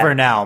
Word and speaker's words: Vernal: Like it should be Vernal, right? Because it's the vernal equinox. She specifically says Vernal multiple times.